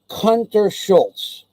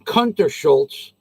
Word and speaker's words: Kuntershultz: under a bus now if you can't say that last name it's a long name many many syllables warren w a a and the last name is hunter schultz k-u-n-t e-r-s-h-u-l-t-z schultz and why we're kicking